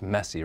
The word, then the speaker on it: MSCI: The acronym is MSCI, and it's pronounced messy, right?